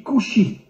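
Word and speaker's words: כושי: En hébreu, le mot noir se dit couchi. Alors bien sûr, vous ne connaissez pas l'hébreu, mais faites-moi confiance. Le mot kushi s'écrit en hébreu kaf vav shin yud.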